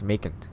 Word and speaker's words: Macon: What's Macon? It rhymes with bacon.